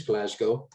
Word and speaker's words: Glasgow: frank just a quick tip you've got the pronunciation exactly correct it is glasgow just just as another tip don't call the